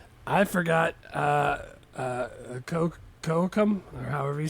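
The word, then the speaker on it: Kocoum: Uh uh Coam or however you say his name is. Kakoam. Kakoam.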